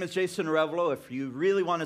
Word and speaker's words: Arevalo: so like I said my name is Jason revolo if you really want to say it right